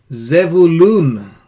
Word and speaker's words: Zevulun: This is pronounced as Issachar. Issachar. Zevulun.